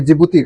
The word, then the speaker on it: जिबूती: ये डी जिबूती नहीं बनेगी, ये जिबूती, डी इसमें साइलेंट हो जाता है दोस्तों।